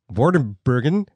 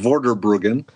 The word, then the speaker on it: Vorderbruggen: ward of Bergen and I've already apologized in advance that i